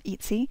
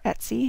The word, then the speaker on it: Etsy: cut shop on um ety or Etsy depending on how you say it um and I'll try